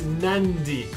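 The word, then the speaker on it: Nadi: airport or anything that it's nandi so a word that will have a D in the middle camera husband and just before the D so that means in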